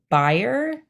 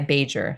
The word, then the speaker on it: Bajer: but it's um uh you pronounce it buyer but uh I've been going by beager so I like to